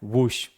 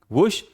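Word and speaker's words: whoosh: ठीक है, तो देखिए यहां पर क्या लिखा है, वुश, तो यहां पर W का उच्चारण हो रहा है, वुश।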